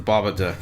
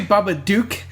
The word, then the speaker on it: Babadook: I say Babadook. Like as in Duke from Duke, G.I. Joe. or Duke Nukem. Yeah, Duke Nukem. Yeah. You say Babadook. Babadook. Duck. I think that's how they say it.